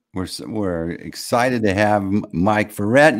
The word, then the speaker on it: Verrett: We're excited to have Mike Verrett. You say it like Corvette.